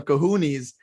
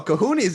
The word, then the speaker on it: cojones: I mean, I said some kahoonies.